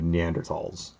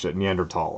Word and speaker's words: Neanderthal: other neanderthal i guess is how you pronounce it i always thought it's neanderthal but i guess it's you don't pronounce the h but anyway um that